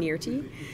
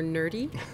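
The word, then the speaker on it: Nyrti: we talked about the the pronunciation of the character named nirty and one of the fun things on set was that richard dean anderson's character insisted on calling her nerdy so around set i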